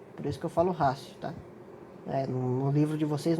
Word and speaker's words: ratio: Todo T seguido de I, mais uma vogal ou semivogal, tem som de C. Por isso que eu falo ratio, tá?